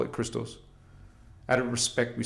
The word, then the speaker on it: Christos: The Guardians call it Christos. Out of respect, we say Christ too. Christ in our language, in the Anahazi Lyran language, the Guardian language, it is pronounced Christos.